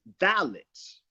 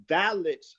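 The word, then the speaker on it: phthalates: spellings for the audience because it's pronounced it's spelled one way but pronounce another it's spelled p-h-t-h-a-l-a-t-e-s but that pH is silent the chemicals are dollars valids are and anti-androgen chemical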